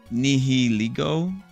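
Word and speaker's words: Nihilego: Nihiliggo, that's how it's pronounced.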